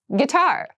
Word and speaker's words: guitar: casual clothing casual clothing guitar guitar this word has kind of an interesting spelling it starts with GUI but we pronounce this as git so a guitar is